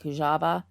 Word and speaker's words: Kujawa: the last name was kajawa now i've also heard it with the w pronounced kind of as a v like hujaba um but i'm going